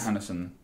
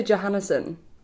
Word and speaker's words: Johansson: Scarlett Johansson. I love how you say Johansson. I thought that's how you say it. Johansson. Yeah. Like Johansson Sebastian Bach or... Yeah. Right. Okay. Wait, isn't it? No, it's Johan.